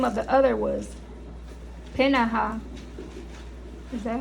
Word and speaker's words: Peninnah: And he had 2 wives, and the name of the one was Hannah, and the name of the other was Peninnah.